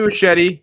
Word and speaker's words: Muschietti: Is it Muschietti? Is that what we pronounced it? You got it. Yeah. Andy Muschietti, you know, and the Muschietis.